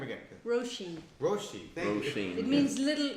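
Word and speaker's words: Róisín: Roshi.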